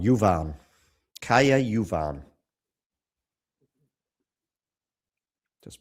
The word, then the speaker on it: Kaja: Caya. Yuvan. Just pronounce practice that pronunciation.